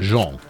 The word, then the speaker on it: Jean: Hold on, is that Jean or is that Jean? It's Jean. I beg your pardon, Jean. I was just a bit of mispronunciation on my part.